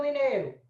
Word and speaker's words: mineiro: Mas em mineiro, essas duas estão na mesma sílaba. Então, a letra E é vogal e a letra I é semivogal. Aqui eu já tenho ditongo, tá?